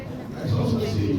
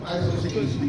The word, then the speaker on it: isostasy: Isostasy, if you're an American, you call it isostasy. Correct pronunciation is isostasy.